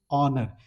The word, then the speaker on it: honor: Since the word honor it starts with consonant sound but it pronunciation is honor. H is silent.